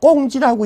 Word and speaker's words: 공지: 이게 자꾸 이제 혼동되신 분들을 위해서 쓸 때는 공지라고 쓰지만 읽을 땐 제가 꽁지라고 읽으라고 내가 자꾸 그럽니다. 왜? 짜투리 남은 땅이니까.